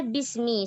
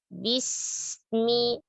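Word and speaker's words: بسم: Kata bismi, sempurnakan kasrah pada huruf ba, jangan menjadi bismi. Tapi bis. Juga jangan menghentaknya. Bismillah, jangan dihentak. Jelaskan hamas pada huruf sin, sofir, ya. Dan jangan dirubah menjadi huruf sod atau huruf shin, ya. Dan jangan memanjangkan huruf mim dan sempurnakan kasrohnya. Bis.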